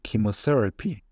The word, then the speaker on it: chemotherapy: it's a mental disease CH that's pronounced key for example chemotherapy it's a treating way